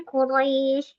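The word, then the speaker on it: قريش: Jadi kita bacanya Quraisy karena syir ayat atau kita bacanya waqaf gitu ya.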